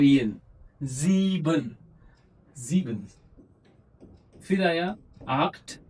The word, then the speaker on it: acht: फिर आया आक्ट, सी एच है, उससे पहले ए है, ख हो गया, आखट, आक्ट।